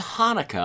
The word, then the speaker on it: Hanukkah: ask you about cha but first of it's pronounced Hanukah but first of all what the CH is